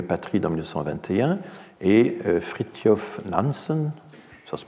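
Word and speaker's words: Fridtjof Nansen: statut des réfugiés à patrie dans 1921 et fritty of Nams ça se prononce comme ça friture finalement zoologiste explorateur norvégien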